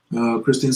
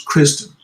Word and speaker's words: Christine: Christine said, just for future reference, my name is actually pronounced as Kristen.